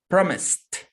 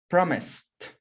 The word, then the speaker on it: promised: will delta promise it that's not the pronunciation is not with delta is with tango the sound of the s promise repeating your houses promised promised very good so let's see camila